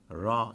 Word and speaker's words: Ra: Ra is R-double-A, and thankfully it's a simple R, which is the English equivalent of it.